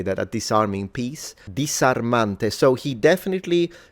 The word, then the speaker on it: disarmante: So when the S is in between two vowels, he's pronouncing it as it's a fricative still, but it's the S variety, rather than the Z variety.